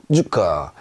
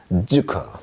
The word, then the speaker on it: Zucker: 주커 이렇게 발음합니다.